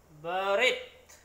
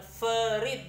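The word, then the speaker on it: בְּרִית: Tapi dia dages lene, titik pengeras. Jadi dia bukan ferit juga, bukan ferit.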